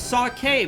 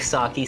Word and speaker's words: sake: It's sake because e is an a sound in Japanese. I don't care. I pronounce stuff the way that I think it sounds better. So, I think Saki sounds better and I